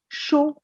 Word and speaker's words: chaud: Il fait chaud. The last D is silent.